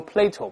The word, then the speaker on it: Plato: 士多德，这个读成 Plato，不要读柏拉图。